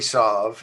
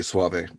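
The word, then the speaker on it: Soave: Reason magazine article, Robbie Sauve. Is that how you pronounce his last name? I understand it's Robbie Suave. Suave, okay. Boy, I wasn't even close.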